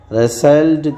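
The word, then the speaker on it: rustled: रसेल्ड का मतलब ट साइलेंट है।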